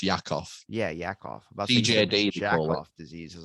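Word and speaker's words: Jakob: that's what it is is it jackoff disease yeah well it's pronounced it's pronounced yakov yeah yakov off diseases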